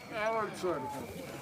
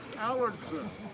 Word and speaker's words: Allardson: Allardson. Allardson. He's putting the emphasis on the wrong syllable.